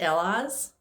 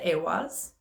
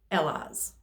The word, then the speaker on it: Elhaz: and this is um in this deck it's pronounced ella's that's actually a rune so in different parts